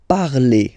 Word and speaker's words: parlez: Vous parlez. Okay, remember a Z, when you combine them together, you get the sound E.